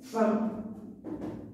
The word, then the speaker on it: femme: mot fin on regard fin sécrit avec e mais on le prononce avec a et plusieurs élèves posent la question monsieur pourquoi on prononce mais c'est comme ça pourquoi suffixe par rapprochement féminin femme voilà la justification suffix